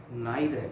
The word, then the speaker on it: neither: This is pronounced as neither, but this is not neither, this is neither. NEITHER is or must be pronounced as neither or neither.